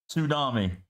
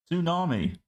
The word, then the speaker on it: tsunami: to Tsunami to Tsunami you don't pronounce the T in tsunami unless unless you do